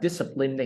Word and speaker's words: discipline: Thì ví dụ như tiếp theo là discipline đi. Discipline đi. Right, discipline right here. Thì chị nhớ này, nhớ âm nào, nhấn âm dis.